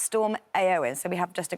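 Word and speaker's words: Éowyn: so disruptive on Friday and it's it's actually pronounced storm aoin so we have just a graphic here to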